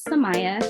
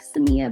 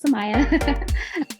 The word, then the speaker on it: Sahmia: so my name is Samaya I know it's spelled a little weird so most people are like Samia but no it's Samaya um I am a